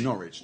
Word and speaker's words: Norwich: is um not rich Norwich just forget the W yeah again again the W is not pronounced not rich yeah what